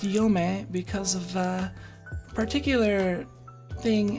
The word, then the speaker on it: Yome: uh roden sanezumi and valley but uh it's pronounced yome because of a particular thing in folklore um